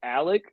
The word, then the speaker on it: Alic: So it's Alec, but it's spelled Alic.